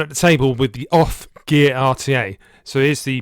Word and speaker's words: OFRF: And now OFF is spelt like this, OFRF, so I'm not quite sure how they get that pronunciation from it, but that's apparently what the company is called.